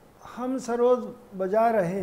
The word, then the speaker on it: सरोद: सरोद ये Persian word है, जैसे सितार भी पर्शियन वर्ड है। सहतार यानी तीन तार का बजा, और ये सरूद इसका उच्चारण है, सरूद डबल ओ के साथ, जिसका मतलब है नगमा, तरन्नुम, मौसिकी।